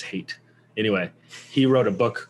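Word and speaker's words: Haidt: but jonathan hate um i think that's how you pronounce his last name h-a-i-d-t it's not had it i think it's hate anyway he wrote a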